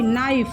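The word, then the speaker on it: knife: अनेक चोर वैसे ही नाइफ नाइफ मींस चाकू यहां देखिए के साइलेंट है इसका ध्यान रखिएगा के एन आई एफ ई नाइफ नाइफ means चाकू इसमें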